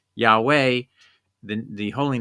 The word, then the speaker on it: Yahweh: it's just simply the the earliest Church pronounced it yah way the the holy name